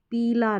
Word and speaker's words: पीला: अब हमने लिखा पीला रंग, पीला रंग जो पीला कलर होता है, तो उसको ऐसे लिखेंगे पीला, पीला। तो ये पिला और ये पीला, तो इस तरीके से